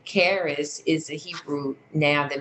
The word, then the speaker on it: Kharis: Summit as well you can follow Carey's group Karis is spelled k-h-a-r-i-s um on Facebook and again you'll